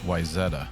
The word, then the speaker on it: Wayzata: It's pronounced Wayzata, Brenda.